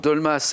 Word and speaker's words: dolmas: Les dolmas. Joli, Ah, oui. Laurence, dolmas, effectivement, et le S se prononce, tout à fait.